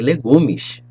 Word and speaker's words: legumes: salad in portuguese salad and vegetables you say legumish how's vegetables in portuguese legumes good job moving